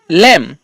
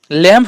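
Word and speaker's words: lamb: হ্যাঁ এর রুলসটা হলো যখন কোন শব্দের শেষে যখন বি থাকছে কিন্তু সেই বির আগে কি থাকছে এম তাহলে কিন্তু আমরা সেই ক্ষেত্রে বির উচ্চারণ করবো না আর কি বি এর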